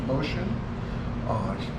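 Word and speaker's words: Mushin: is Karen motion vote spelled mu Shi n is pronounced motion very nice lady very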